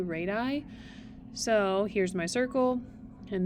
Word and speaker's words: radii: Radius is a line segment from the center to a point on the circle, and a plural pronunciation of that is not radiuses, but radii.